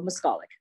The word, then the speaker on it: Moskalik: Moskalik? It's on the second syllable, Moskalik.